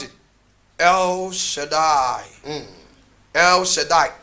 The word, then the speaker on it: El Shaddai: This is how we pronounce it. El Shaddai.